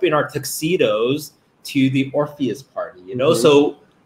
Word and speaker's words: Orpheus: You combine what it's actually called with Ophelia. There's no Ophelia in it. The first syllable is right, though. Odious. I don't know. Odious means smelly. Orpheus. Orpheus. Yeah.